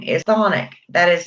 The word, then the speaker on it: chthonic: a lot of the demons in Hades are considered chthonic or chthonic, however you want to pronounce it. It's CHTHONIC.